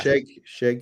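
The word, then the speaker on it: Schaech: Is that how we say his name, Old Bean? Sheck? Yeah, I think so. Yeah. Shake. Yeah.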